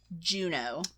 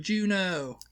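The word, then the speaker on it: Juneau: be the oh yeah Anchorage okay I put Juno I didn't even think of that one and that is one not that she said funny but that's one I can remember from elementary school um Juno yeah and it's not spelled like the movie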